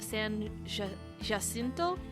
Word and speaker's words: San Jacinto: their independence was the battle of san jacinto i think because there's a j and j's are pronounced as ages uh and i'll get